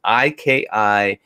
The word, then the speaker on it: Ikigai: It's Ikigai. Okay, is how it's spelled.